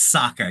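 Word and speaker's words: Sokka: isn't m shamalan movie it's Saka you pronounce it right I'm sorry fine okay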